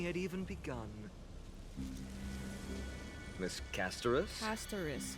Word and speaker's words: Castorice: Castorice. Hey, that's how you say it.